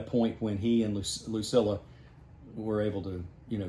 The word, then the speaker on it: Lucilla: Luc Lucilla. Lucilla.